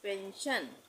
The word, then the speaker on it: pension: यहाँ पे है ये पेंशन, PENSION। तो एस के बाद क्या आ रहा है? ION। तो यहाँ पे भी इसका उच्चारण श हो जाएगा। इसको हम पढ़ेंगे पेंशन।